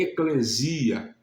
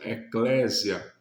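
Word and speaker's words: ἐκκλησία: Ou seja, aqueles que o receberam, nós chamamos de igreja, que no grego a pronúncia correta é eclesia. Muitos, de forma geral, vão pronunciar a expressão eclésia, mas a pronúncia correta é eclesia e significa os chamados para fora.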